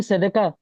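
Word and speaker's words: צדקה: तो आप उसे क्या पढ़ोगे? जी शंकु भाई। जी, इसे हम सदका पढ़ेंगे।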